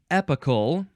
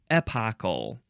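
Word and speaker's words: epochal: the next word is epical or eple so you're still emphasizing the first syllable the E Epoch epical epocal e p o c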